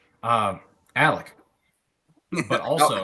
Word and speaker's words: Alec: Alec quick question for you how do we pronounce your name um Alec but also how about the last part um